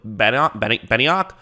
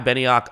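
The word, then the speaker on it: Benenoch: although this is caleb beniock right here benioc i believe is how you say his name uh he used to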